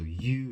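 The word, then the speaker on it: ewe: That's spelled, so you is spelled E-W-E.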